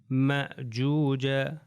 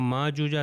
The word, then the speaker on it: مأجوج: اب یہ اگلی ایگزامپلز آپ یہ دیکھیں نیچے والی لائن میں یأجوج یأجوج مأجوج. اگر میں کہوں ماجوجا تو غلط ہو جائے گا.